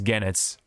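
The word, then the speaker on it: Goenitz: the uh the infamous genits well Infamous in a good way because he's a bad guy but yeah um again it's the G the O is silent as I learned after some sometime after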